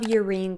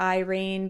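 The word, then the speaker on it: Yrene: And I know a lot of people like to call her Irene, but I'm telling you right now, if it was supposed to be Irene, it would be spelled with an I. It is not. It is Urein Towers.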